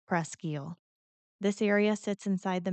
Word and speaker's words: Presque Isle: And if you're not from the area, most people say Prescy, but locals will tell you it's actually pronounced Prescal.